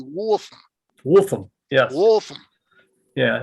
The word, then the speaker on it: Waltham: Well, around here these days, this generation says Wolfham. Yeah, But if okay. you were English, it'd be Wolfham.